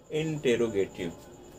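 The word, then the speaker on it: interrogative: ठीक है, क्योंकि इंटेरोगेट मतलब होता है क्वेश्चन करना। ठीक है, जबकि इंट्रो मतलब तो इंट्रोडक्शन देना होता है, परिचय देना होता है। ठीक है, इसलिए आप इसे प्रोनाउंस करेंगे इंटेरोगेटिव।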